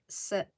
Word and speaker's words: sarape: The E is pronounced as an A. Sarape.